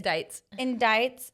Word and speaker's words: indicts: Yeah, so basically he was, okay, how do you say it? Indicted. Indicts. But it's indicts.